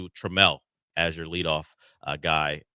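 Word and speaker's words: Trammell: Uh, that that is not how you say his name. It is Trel.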